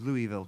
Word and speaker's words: Louisville: So this is Louisville, Kentucky.